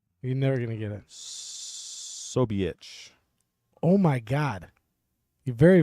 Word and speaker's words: Ksobiech: Ksobiech. Oh my God, you're very, very close. But how would you know not to pronounce the K? How did you know the K was silent?